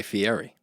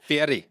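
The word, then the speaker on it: Fieri: She also had a a cookoff show with Guy Fier. Oh, said it wrong. Celebrity cookoff. Fiery.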